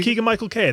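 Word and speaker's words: Keegan-Michael Key: Did I say his name wrong? No, you said it right. Okay, Keegan-Michael Kay.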